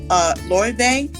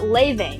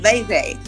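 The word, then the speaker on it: Lauv: say her name more, is it Loewe? It's Leve. Leve.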